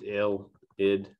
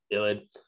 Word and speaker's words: ylide: midigrad reaction and that's our illid so it's pronounced ill did illid and this is a very powerful obviously reagent